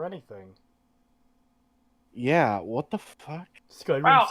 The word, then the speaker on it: Skyrim: Skyrim sounds like rim.